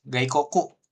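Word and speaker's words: 外国: Oke, gaikoku cara bacanya. Iya, gaikoku ya.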